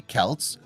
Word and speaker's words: Celts: the romans belief the celts pronounced with a hard c or k sound were anything but barbarians